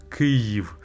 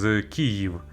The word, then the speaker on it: Kyiv: Ukrainian name for our ancient capital is Kyiv, so Kyiv. But if you can't pronounce that I, it should be short and not accented, so you can pronounce it as Kyiv. It's still closer to what is how it should sound.